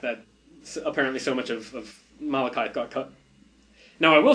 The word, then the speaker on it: Malekith: They call it Malekith. I've never heard it pronounced outside of this movie, so I'm going with Malekith.